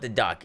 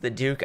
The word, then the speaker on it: Duke: no uh the duke i call it the duck it's technically pronounced the duke i think but we all know it's the duck um this pistol not